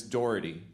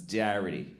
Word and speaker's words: Doherty: I had a teacher named Miss Doherty, but she thought her name was Mrs. Darity. She mispronounced her own name.